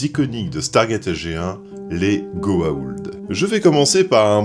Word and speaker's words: Goa'uld: Puis d'évaluer la menace des Goa'uld, c'est bien ça? Pardonnez-moi, mais je dois vous reprendre. Il y a une apostrophe après le A, juste avant le U, et ça se prononce... Goa'uld.